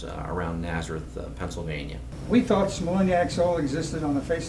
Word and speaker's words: Smolenyak: says no he says your name is not smiac it's smiac even today as I